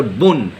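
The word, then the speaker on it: bonne: यहाँ पर हम ये नहीं बोल रहे हैं बो, यहाँ पर बोन, तो बोन न बोन. तो यहाँ पर बोन, यहाँ पर न को हम क्यों प्रोनाउंस कर रहे हैं?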